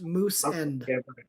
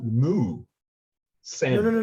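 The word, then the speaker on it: Moosend: Also, I believe it's pronounced Moose End. I think it's actually Moo. Send. No. It's Moo. Moose. There's a cow. It's a cow. The logo's a cow.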